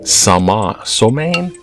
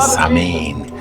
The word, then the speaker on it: Samhain: And then when they found the other pagan holiday, Samhain, that looks different how it's said, and the 31st, that in between the equinox and the solstice, is halfway point, Samhain.